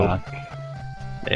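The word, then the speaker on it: Dvořák: Antonin, however you pronounce his name, yeah, the Symphony Number 9, that's it. Vorjak. There you go. Dvorak.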